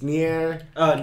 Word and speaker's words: Nier: He pronounces it right. It's near.